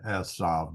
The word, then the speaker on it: Esav: a limb there anyway I call him asav because that's how I pronounce my vavs okay verse two asav